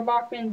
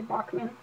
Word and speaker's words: Bachmann: instructions and on this it specifically says your Bachman DCC equipped locomotive is also 100% backwards compatible